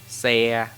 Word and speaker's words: xe: Consonant that start with X is pronounced S, as in sun or Sunday. Okay, for example, xe, cộ, xã, hội.